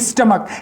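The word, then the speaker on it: stomach: क्या लिख रहा हूं स्टमक यानी इस च का उच्चारण दोस्तों क्या ए रहा है के ए रहा है लेकिन इस च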